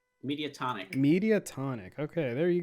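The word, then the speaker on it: Mediatonic: how do i pronounce their name i always pronounce it wrong media tonic media tonic okay there you go uh so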